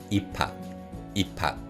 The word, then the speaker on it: 입학: And in terms of pronunciation, with this word 입학, because of the 피읍 받침 in the first syllable and the 히읗 consonant used in the following syllable, this word is pronounced 입학.